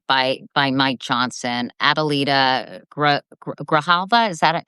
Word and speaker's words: Grijalva: Adelita Grijalva, is that how you say it? Well, yes, absolutely. Grijalva from Arizona and she was actually just sworn in a few minutes ago.